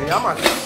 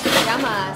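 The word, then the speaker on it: Γειά μας: How do you say cheers in Greek? Yamas. Yamas, that's right.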